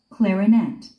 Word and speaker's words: clarinet: 그 다음 악기는 Clarinet. Clarinet. clarinet. 발음기호는 clarinet로 되어 있어요. clarinet. 아무튼 스트레스는요, 맨 마지막 삼음절에 있습니다. clarinet. clarinet 또는 clarinet. Clarinet. Clarinet. 클라리넷 또는 클라라넷 이렇게 마지막 음절에 스트레스가 있어요.